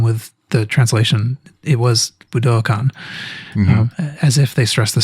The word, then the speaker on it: Budokan: the buddhicon stage yes i've been saying buddhicon i think they say budokan actually i think they think that middle syllable is long but i think i'm